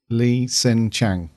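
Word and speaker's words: Li H'sen Chang: the Lee uh lee lee sen Chang Lee sen Chang that's right yeah a silent h isn't it Lee senang Lee Chang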